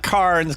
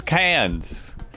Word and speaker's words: Cairns: Just don't pronounce the R in cans. Yeah, that's what I heard before. Not Cairns, cans.